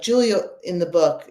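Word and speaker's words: Giulia: to me like like Julia in the book it's spelled g i u l a Julia that character was always Julia and um yeah you know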